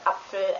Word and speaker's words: Apfel: A combination of P and F is also very common, but it's just pronounced how you would pronounce P and F.